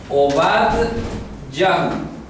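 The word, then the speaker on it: עובדיהו: En hebreo tiene un nombre un poco difícil a veces de pronunciar. Obadyahu. Obadyahu. ¿Ok? Obadyahu. Así es como se pronuncia Abdías en hebreo.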